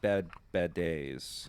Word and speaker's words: Bad Baddies: Because It's pronounced bad days. oh, I'm so actually. sorry. Yeah. Bad days, like bidet. No. Oh, okay. RE has a flick on top of it, which changes the pronunciation to bad days.